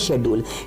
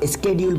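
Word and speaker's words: schedule: जी हाँ, शेड्यूल जो अपना टाइम टेबल बनाते हैं इसको हम ब्रिटिश इंग्लिश में बोलते हैं शेड्यूल, लेकिन अमेरिकन इंग्लिश में इसका प्रोनाउंसिएशन चेंज हो जाता है, स्पेलिंग सेम रहती है, इसको स्केड्यूल बोला जाता है।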